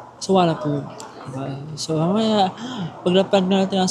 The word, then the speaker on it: Suvarnabhumi: silang Soanom international airport kung babasahin mo siya sa Pinoy ka ang ang pagkakabasa mo doon is suvannabumi ganun siya ganun siya pag hindi mo alam yung pronouncing talaga subana subana boomi ganun pero since gusto natin magsound local ang gagawin din natin ay sa wana so mamaya paglapag natin